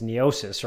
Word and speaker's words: Neocis: I think it's Neocis, right? Correct.